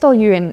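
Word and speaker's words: Dalwhinnie: one that even whisky lovers often get wrong Dal yuin it's pronounced d yuin and it's one of my favorites because my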